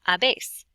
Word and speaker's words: habéis: How do you pronounce H's in Spanish? If you said you don't, you are correct. So this would be pronounced a, hemos, and habéis.